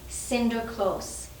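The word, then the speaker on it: Sinterklaas: and his good deeds in the dutch language saint nicholas is pronounced cinder close and today the young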